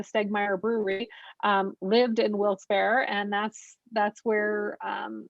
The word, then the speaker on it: Wilkes-Barre: first day we're going to head up to wilkes bar wilkes barre and penny how do you say wilkes berry well some people say and some say wilkes-barre